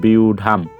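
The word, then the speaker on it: ব্যূঢ়াং: ঢ আকার ঠিক রাখলাম অনুস্বর শব্দের শেষে তার মানে অনুসর শব্দের শেষে থাক মানে ম এর মত উচ্চারিত করতে হবে তাহলে পেয়ে যাচ্ছি কত বুঝাং এর উচ্চারণটা পেয়ে যাচ্ছি আমরা বিউঢাং তো আশা রাখি তোমরা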